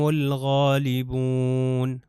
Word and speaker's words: الغالبون: اب نیکسٹ ہے غین، الف لام کے بعد غین آ جائے تو یہ لام ضرور پڑھا جائے گا، تو یہ ہو جائے گا ہم الغالبون، ہم لام دیکھیے تلفظ